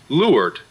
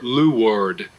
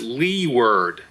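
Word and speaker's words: leeward: spelled l-e-e-w-a-r-d it's pronounced lured or lou word sometimes you slip a w in there lured sailing masters will howl if anyone comes near a ship and says lee word for w-a-r-d and you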